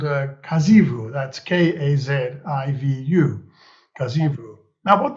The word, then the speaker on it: Kazhivu: But there's also another organization, a company lurking in there somewhere called Kazivu. That's Kazivu. Kazivu. Now, what does that mean? So Kazivu is a word inspired from the language Malayalam, which is my mother tongue.